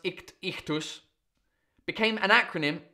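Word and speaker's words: ichthys: The Greek letters for ichthus, meaning fish, pronounced ichthus, became an acronym.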